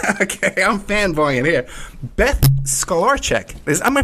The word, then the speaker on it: Stolarczyk: Beth Stolarczyk. Am I pronouncing that right, Beth? Stolarczyk.